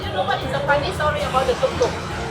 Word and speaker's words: tuk-tuk: a fun story about tuk-tuks. - Thai has many different tones, right? - A local taxi is called a “tuk-tuk,” - but if you pronounce it differently like “tut-tut,” - it can mean “ladyboy.”